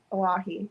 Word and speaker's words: Oahe: How do you spell that, Oahe? Owy H-E-E. Yeah, Oahe. So Google that.